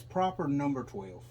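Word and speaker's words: Proper No. Twelve: 12 which i i we've been pronouncing that wrong it's proper number twelve proper number twelve nice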